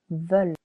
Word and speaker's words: veulent: Il, elle with a silent S veulent. We've changed letter O to letter E simply because ils voulent, elles voulent wouldn't sound good.